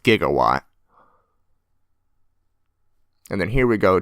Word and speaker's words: gigawatt: Although gigawatt is actually a scientific term, although it's pronounced gigawatt.